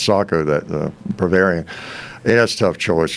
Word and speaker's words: Sako: it but I always everybody calls it Seiko but I think it's Sako that Bavarian that's tough